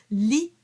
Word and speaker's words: lit: Lit de cas. So li, the T is not pronounced.